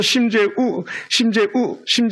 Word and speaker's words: 심재우: 이응 하나가 떨어졌어. 그래서 심재우 선교사님 강력하게 발음해야 돼. 심재웅 하면 제가 되는 거고.